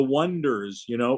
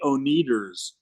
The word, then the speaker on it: Oneders: They were called the Wonders, but they decided on a funny spelling, ONEDERS, like the word for the number one, right? Plus ders, wonders. But everybody would mispronounce it and introduce them as the Oneaters because they'd look at ONEDER.